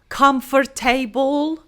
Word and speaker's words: comfortable: Still, it has nothing to do with table. table. We do not say table. We just say comfortable. And when we say it, we do not pronounce the R sound as you may not hear it when I say comfortable.